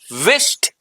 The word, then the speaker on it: wished: विश, विश्ड, आई विश्ड हिम, आई विश्ड हिम, विश्ड नहीं, the right pronunciation would be wished, wished.